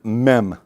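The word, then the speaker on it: מם: The next one is mem, and it's M as like in Mary, and it's written differently when it's closed up.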